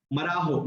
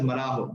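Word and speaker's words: Marajó: Marajo, it's called as Marajo. The J is silent.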